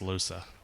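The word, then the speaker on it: Lohse: I know it's now pronounced Losa.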